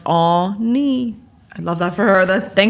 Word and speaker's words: Anni: it's pronounced Ani.